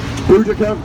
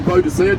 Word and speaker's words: Boudica: Boudica, or Boadicea, depending on your pronunciation.